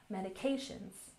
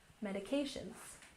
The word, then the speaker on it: medications: And medications has the primary stress on the third syllable. Medications. Medications.